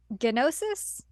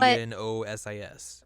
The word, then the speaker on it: Gnosis: and in the game they pronounce it gnosis um gnosis g n o sis but when I was reading it initially without the voice acting my brain just called it nosis yeah so I don't